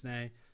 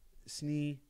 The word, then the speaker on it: Sneh: My name's Sneh. So, you know, S-N-E-H, you know, people have pronounced it Snee. People have said snake, you know, so, you know, it's an Indian name.